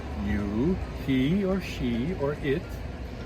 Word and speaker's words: yo: Now, you know that in English, the first person singular is I. Okay, so in Spanish, it's yo. Yo. Notice I pronounce the O sound properly.